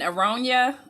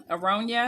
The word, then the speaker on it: aronia: okay and how do you say it again aronia aronia yeah um a-r-o-n-i-a and it's a bigger berry